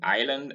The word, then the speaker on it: Ireland: in ireland in isle notice that the s in ireland and in isle is silent and you have it